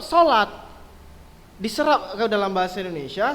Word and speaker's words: salat: Tapi kalau sesuai dengan kaidah bahasa Indonesia, yang benar itu SALAT, salat. Bagaimana bacanya? Bacanya tetap sholat.